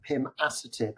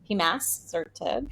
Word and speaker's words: pimasertib: Pima. Oh, okay. Sertib. Yeah. I mean, but you could say Pimasertib if you just want to. It may be academic. Emphasis on the wrong syllable there.